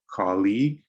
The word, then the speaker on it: colleague: right third we have colleague remember the pronunciation of the letter l here call colleague colleague fourth is another l